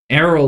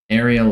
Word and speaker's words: Ariel: the right Mo tonight arol Levy sorry I've been saying your name wrong Ariel ly hey you want to